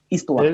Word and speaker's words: histoire: Le H de histoire s'appelle le H muet.